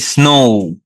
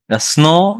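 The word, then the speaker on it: snow: সন এইযে লাস্টে ওকার। ওকার উচ্চারণ করনো না। সনো না এটা হবে স্নো।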